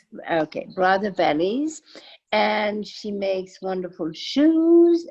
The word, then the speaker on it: Brother Vellies: has a successful line called make sure I pronounce it right you say brother valleys okay brother bellies and she makes wonderful shoes and accessories so